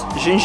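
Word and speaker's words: ginja: partout dans la ville, donc ça se prononce en fait jinja j'ai une tasse de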